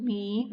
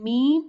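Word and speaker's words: ميم: Lam, lam is pronounced, and meme is pronounced from the lip. Meme when you touch lips with each other with soft.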